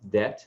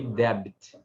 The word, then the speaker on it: debt: a pronúncia da palavra that do que essa aqui, né? Muitas pessoas, quando estão aprendendo inglês, acabam pronunciando isso aqui debit, tentar pronunciar o B, mas não tem, o B é mudo.